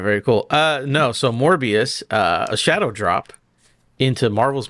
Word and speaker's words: Morbius: You gotta say it like it's spelled. Morbius. There you go.